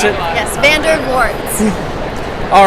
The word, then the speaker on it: Vandervoort: with the Nery and I'm here with Laura Vander warts there you go hi that's how you pronounce it yes Vander warts all right and of course you're here with